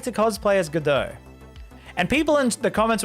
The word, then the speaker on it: Godot: godot good though because someone in the comments was like you don't meant to pronounce it as godot like good day you're not meant to pronounce it as that it's godo godoh that doesn't roll off